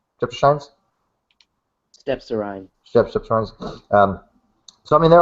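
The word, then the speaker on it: Strepsirrhine: So, that was a transitional fossil between haplorhines and streptoshines? Stepsorine.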